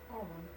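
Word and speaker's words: Arawn: You're like, I don't even know how to pronounce that. Where? Erwin? Arwen? Arwen.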